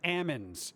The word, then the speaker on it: almonds: um every old person i have never met an old person who is collecting social security that ever pronounced almonds almonds they always call it ammons like the the l disappears once you get social security why they're not ammons